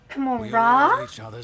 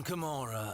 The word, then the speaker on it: Commorragh: Commorragh? You don't even pronounce the G?